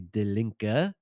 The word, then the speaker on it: Die Linke: I was gonna correct you and say, you know what? It's actually Die Linke, but then I remembered we're speaking English.